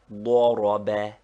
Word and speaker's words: ضرب: ضاد, that is, that the fatha is sounded like a short O, though we write it A, and thus ضرب is pronounced like ضرب.